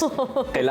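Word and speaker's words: قلعہ: ये बोला कि ये किला होता है, बस प्रोनाउंसिएशन काफ वाली जो होती है ना, ये फ्रॉम एपिग्लॉटिस, यस, किला होता है ये जरा इस तरह से।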